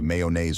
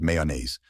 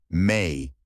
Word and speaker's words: mayonnaise: the correct pronunciation is mayonnaise. Let's break it down. May like the month, a soft schwa sound, and naise rhyming with haze. Say it with me slowly. May-uh-naze. Now naturally, mayonnaise.